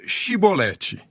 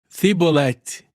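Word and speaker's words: Shibboleth: Eles lhe diziam: Por favor, diga Shibolete. Mas ele dizia: Cibolete. Pois não conseguia pronunciar a palavra corretamente.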